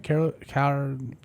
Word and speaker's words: Karlaftis: Karlaftis.